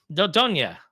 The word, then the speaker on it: Dordogne: In other news, I can't ever pronounce the name of this game, but the development team Dordogne. Help me out. Dordogne.